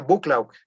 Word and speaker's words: Buccleuch: tal duque de buccleugh que se escribe difícil pero así se pronuncia se escribe algo así como buccleuch con 23 no los ven ósea bucklaw el duque de buccleugh